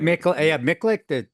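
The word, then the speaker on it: Miculek: So, for instance, you can have like Jerry Miculich. I think that's how you pronounce it. Miklik, Yeah. Jerry Miklik.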